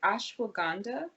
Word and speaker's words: ashwagandha: little bit - and I hope saying this right ashwagandha yes you are saying it right medicinal there's a Chinese